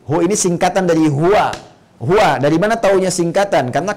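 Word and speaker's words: هو: Hu ini singkatan dari huwa. Huwa, dari mana taunya singkatan? Karena kalau kita wakaf dalam kalimat huwa, kita nggak baca huwa, bacanya hu.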